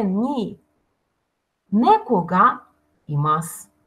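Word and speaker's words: います: сказал глагол и масс и массы но часто когда мы произносим этот глагол да и не массу у часто редуцируется не произносится поэтому говорим и масс и так и масс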